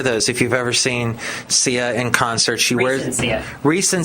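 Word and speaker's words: Ciara: says hey just reminder the way to say ca's name is ca he spells it out phonetically because I guess some people were saying SAA sa sayara cuz that's how some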